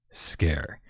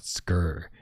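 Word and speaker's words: Sker: pronounces it differently but I looked it up and it's supposed to be pronounced Scare which sounds kind of cheesy. I thought Scur just because of how it's spelled.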